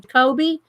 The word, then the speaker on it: Jacobi: Jacoby.